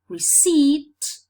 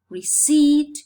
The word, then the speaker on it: receipt: This is the same case with receipt, receipt, where letter P is not sounded, or debt, where letter B is not sounded.